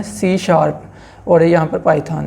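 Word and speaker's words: C#: सी सी plus plus सी हस लिखा हुआ है लेकिन आपने इसको प्रोनाउंस किया करना है सी शार्प और यहां पर पाइथन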